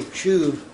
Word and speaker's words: shuv: If you were to pronounce it, it would be pronounced like S-H-O-O-V, shuv.